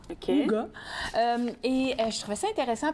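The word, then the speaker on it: Hooga: Ça se prononce comme ça, H-O-O-G-A. OK. Ouga.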